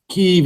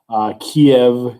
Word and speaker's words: Kiev: Kiev, if you are using the kind of modern Ukrainian enunciation, Kiev, if you're using the more Russian pronunciation, right?